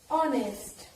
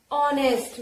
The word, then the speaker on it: honest: For example, honest. For example, honest. Now children, see here, H. H is consonant. But here sound is vowel. If you pronunciate it, then how will you pronunciate it? Honest, not honest.